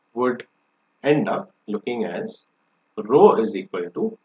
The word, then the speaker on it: rho: Okay, it is pronounced as rho, not R-O-W, R-H-O, rho.